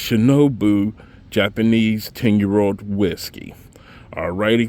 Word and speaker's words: Shinobu: excuse me from earlier cuz I know I did mispronounce it but it's shinobu Japanese 10-year-old whiskey all